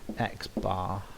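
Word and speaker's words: x̄: the mean of X and we're going to pronounce this X bar there is one quick little note that I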